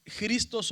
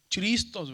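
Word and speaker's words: Χριστός: de la gramática moderna, que cuando está una ji y una ro, la pronunciación cambia a, por eso decimos cristos o Cristo, ¿verdad?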